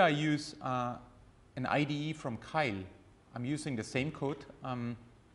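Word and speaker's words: Keil: Kyle is spelled like, yeah.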